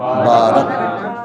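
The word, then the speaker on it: بَارَكْنَا: ও বারাকনা আলাইহি, এই বারাকনা আচ্ছা, মানে এই বংশধরটা বারাকনা, উচ্চারণ করো, ইফাত বলো, বারাকনা, বারাকনা, বারাকনা, বায়ে খারা যাব না, বারাকনা একটু লম্বা হবে, বারাকনা, এবং বারাকনা নাও ডাবল হবে, আলাইহে ওয়ালা ইসহাক ওয়ামিন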